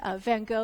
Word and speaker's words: Van Gogh: Facebook Live event, where I'm pronouncing Van Gogh using the American pronunciation.